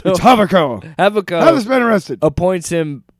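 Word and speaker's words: Javicco: Javid Javid the emperor havo havo what oh there's a Jay God I'm so white uh so he I and they say his name and I always see that J I'm like javu havo hey Jeffy let's go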